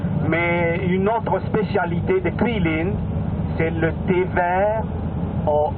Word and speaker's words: Guilin: G-U-I-L-I-N. Hein? On prononce Quilin, hein?